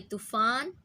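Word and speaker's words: طوفان: तोए तोतो, तोए तूफ़ान। तूफ़ान को आप समझ सकते हैं उर्दू में भी कहा जाता है तूफ़ान, जबकि सिंधी में अब इसे हम प्रोनाउंस करेंगे तो तूफ़ानू कहेंगे, तूफ़ानू कहा जाएगा।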